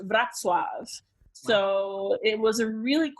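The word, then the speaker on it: Wrocław: germany the city on the map looks like roe claw but it's actually pronounced vratswag so it was a really cool town when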